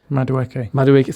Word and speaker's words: Madueke: Madueke, thank you.